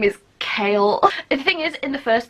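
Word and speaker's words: Chaol: like his name is kale thing is in the first book I wanted to pronounce it Chael but I knew that it was kale but part of me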